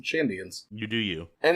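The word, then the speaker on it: Shandian: I just want to assume the N is silent because Shadians rolls off a lot better. The N is not silent. I will probably keep mispronouncing it because it's easier to say Shidians than Chandians.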